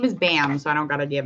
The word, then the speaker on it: Bam: the world actually sees barn barn or bam i think it's bam i literally butchered his name this poor guy okay it's bam i'm so terrible i called him barn girl i gotta get it together his name is bam not barn oh lord okay i'm